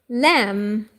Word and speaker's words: lamb: Now here, lamb. Lamb. In English, the B is silent.